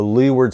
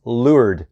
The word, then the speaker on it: leeward: the sailboat to the leeward side has right of way but the pronunciation is lured not Leeward it's lured so be sure to yell Lord at somebody and don't yell Lee word they might know that